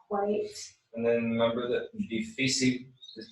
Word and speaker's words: difícil: On the vowel of the syllable prior to that. Mm-hmm. Okay. Difícil.